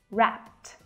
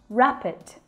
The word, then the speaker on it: wrapped: Wrapped. Not rapid. That's a completely different word.